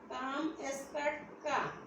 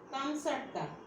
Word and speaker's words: কামচাটকা: আর কাম এসকাটকা, এর হচ্ছে প্রকৃত উচ্চারণ কামচাটকা।